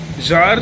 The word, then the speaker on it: Tsar: इन 1914 जार Nicholas II, ये देखो ये वाला जो वर्ड है ना, TSAR, ठीक है, इसे जार पढ़ते हैं, ZAR, ठीक है, जार, T साइलेंट रहता है, जार निकोलस II, ठीक है.